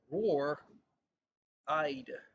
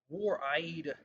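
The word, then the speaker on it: Roar Eide: The name of the artist is Roar Eyed. Roar Eyed. And Roar, just like a tiger, rawr, rawr. And Eyed is spelled Eide, Eide, Eide.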